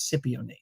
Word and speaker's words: cypionate: I got corrected last week that cypionate, but it's phonetically spelled out for me in the read as cypionate.